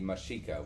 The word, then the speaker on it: Mexica: But yeah, they are the Meshica, what we call the Aztecs.